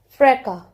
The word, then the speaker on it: fracas: Fracas. S is silent here.